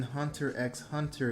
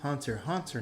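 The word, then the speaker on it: Hunter × Hunter: Oh, the X in Hunter X Hunter is meant to signify a repeat of the Hunter world. Um, so it's pronounced Hunter. Hunter, not Hunter X hunter.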